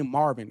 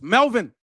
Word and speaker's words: Melvin: Like, I hate when people call me Marvin. Like, it like it's Melvin or male, not Marvin.